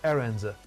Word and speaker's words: errand: The first syllable is stressed. Errand.